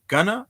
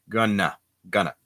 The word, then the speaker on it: gonna: Instead of saying going to, people sort of mix it together and it ends up sounding like going to, gonna, right?